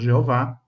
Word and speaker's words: Jeová: Sabemos que na época da Páscoa as pessoas também cantavam salmos e ali fala o nome Jehová, que no português pronunciamos Jeová várias vezes, não é?